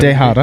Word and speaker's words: dejada: That's a Dejada. With a D. Spelled with a D. You spelled it with a D, right? I said Dejada. Okay, that's good. Yeah. Carballo's fond of calling it Tejada.